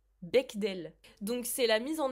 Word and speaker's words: Bechdel: Comment on prononce? Bechdel.